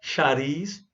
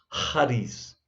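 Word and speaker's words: χάρις: graça no original grego ares tá certo essa pronúncia bem as para bem aspirada né charles ok não é shares nem cáries é raiz ok gente rares é o que dá origem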